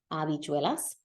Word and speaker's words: habichuelas: usa la palabra habichuelas, which starts with a silent H, habichuelas.